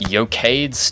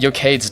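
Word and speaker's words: Eochaid's: E-O-C-H is yoke? That's not right.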